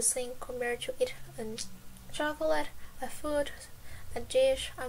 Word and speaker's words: chocolate: And by the way, chocolate in Portuguese, we say this as chocolate. The way that we write it, it's the same. It's just the pronunciation that's different.